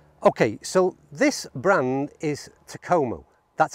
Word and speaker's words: Takomo: Okay, so this brand is Takomo. That's how I'm going to pronounce it, at least anyway.